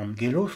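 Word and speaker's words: ἄγγελος: qui est âgé dur petite règle de prononciation gamma se prononce comme un nu devant un kappa ainsi un qui ou un autre de la mort par exemple en gellos le messager s'écrit avec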